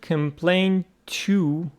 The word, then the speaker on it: complaint: Complain is a verb, and it says complain to someone about something. And what about the noun? The noun says complaint, complaint. Again, the stress on P, no difference.